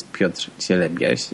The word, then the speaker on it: Piotr Cielebias: My name is Piotr Cielebias, and I'm aware that it may be hard to pronounce by people speaking in English, but also